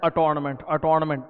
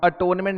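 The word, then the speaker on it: attornment: अटोनमेंट नहीं boss, listen to me very carefully. अंग्रेजी में एक शब्द होता है अटोनमेंट, ATONE, एटोनमेंट। एटोनमेंट का मतलब होता है पश्चाताप करना। यहाँ स्पेलिंग क्या है? अटॉर्न। अटॉर्न comes from the word अटॉर्नी, मतलब एजेंट, मतलब मैं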